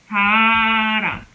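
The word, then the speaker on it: 사람: And again, it's found between a and another a. Two vowels. It's in between this vowel and this vowel. So we pronounce it as more like an R sound.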